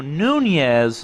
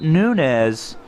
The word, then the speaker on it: Nunez: like here we got Lorenzo Nunez not Nunes it's a nine yard rush we had some some mispronunciation all across the board in the media earlier this week and he'll now have the tilde over the end on his jersey starting in the next